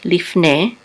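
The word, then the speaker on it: לפני: This is Lamed with a Hidik and a Fe. The Shava is silent. This is Lif. And this is a Nun with a Tzere and a Yud together we say Ne, Lifne, which means before.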